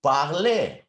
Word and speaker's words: parlez: But when we use them with vous, to that root, we add the e, vous parlez.